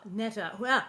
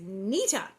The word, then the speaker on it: Neta: her years alone uh neta nita now it's spelled neta and as bill anderson has informed me it's nita there is a photo